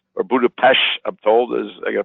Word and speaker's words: Budapest: be going on a cruise from Vienna to Budapest, or Budapest, I'm told, I got to pronounce it properly.